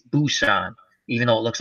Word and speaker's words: Busan: but I enjoyed it the last train to Pusan but they say Busan now I guess they change the pronunciation it's Busan even though it looks like a P and